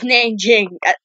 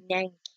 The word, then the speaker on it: Nanjing: That's not how you pronounce it. Nanjing. That is Nanjing. What Nanking?